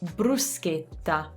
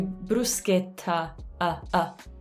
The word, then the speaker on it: bruschetta: it just it dies so bruschetta and at the end make sure not to do bruschetta let me know